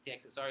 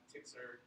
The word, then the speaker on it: TXSR: Of course, TXSR, some people pronounce Tixer, others TXSR. Is there like an official way to say it? Tixer. Tixer? Yeah. It's just short.